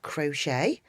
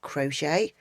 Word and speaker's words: crochet: And here we've got the word crochet. We've got picot, which is a crochet term. These have both got a silent T on the end.